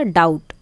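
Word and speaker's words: doubt: तो यहाँ पर जो जो साइलेंट है हमें वो बताने हैं। जैसे यहाँ हो गया डाउट, तो बी से क्या बनता है?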